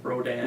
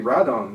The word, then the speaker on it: Rodan: And of course the mispronunciation of Rodan. Rodan, which they finally Radon. is supposed to be Radon, which was called from the very beginning since the 50s, but it was in North America they changed it to Rodan.